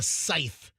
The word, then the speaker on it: scythe: Reaper hold and I think it's called a scythe a yep uh s c YT H am I am I pronouncing it right now we got to go